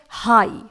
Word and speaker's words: high: सबसे पहला वर्ड है हाई, स्पेलिंग है HIGH। यहां पर देखिए हाई में GH साइलेंट रहता है।